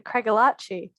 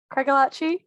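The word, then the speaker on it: Craigellachie: just like yeah the the craigalachi and the death glare they gave him and they were like it's craig and he was like oh shoot i've been saying it wrong for so many years um but he feels a lot better because the melbourne um what melbourne rep from a few years ago still calls it cragolacci and it was like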